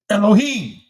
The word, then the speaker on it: Elohim: This is the correct pronunciation of the word Elohim. Elohim.